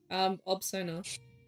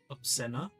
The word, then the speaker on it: Obsona: Obsona. You want me to spell it? Yes. I'm Let me- doing the journal keeping, so yes, please. Obscena? Is that how you say it? Obsona.